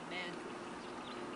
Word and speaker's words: Madrid: Spelled like Madrid, but pronounced Madrid.